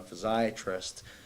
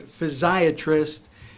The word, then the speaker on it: physiatrist: And then after that, I went into physical medicine and rehabilitation to become a physiatrist.